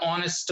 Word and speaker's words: honest: Vinod is an honest man. Honest. Here also H is not pronounced.